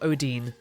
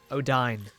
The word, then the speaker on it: Odine: Not Odine. Odine. I know this because in Japanese it is Odain Hakase. So, Odine. Dr.